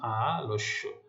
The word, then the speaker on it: আলস্য: আচ্ছা, আরেকটি উদাহরণ দিচ্ছি দেখো, যেমন আলস্য, তাহলে মধ্য অ ল, তারপর কি রয়েছে, জ ফলা রয়েছে। হ্যাঁ, তাহলে নিয়ম অনুযায়ী ল মানে অ এর উচ্চারণ ও এর মতো হচ্ছে ল ওকার।